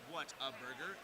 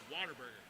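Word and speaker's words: Whataburger: it says what a burger it is not pronounced what a burger it's pronounced Water Burger water bger water bger and if you if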